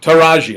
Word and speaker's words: Taraji: I forgot how you pronounce her first name. But Naranji? Taraji. I'm sorry.